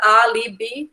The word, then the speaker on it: álibi: É a sílaba mais forte, então é uma paroxítona, e o álibi, dividindo aí, fica álibi, né?